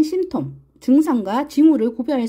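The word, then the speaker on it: symptom: 숨겨진 자로 해서 여기에는 심 톰 이라는 얘기가 나오네요 네 피가 묵음 이네요 심 톰 그래서 제가 여기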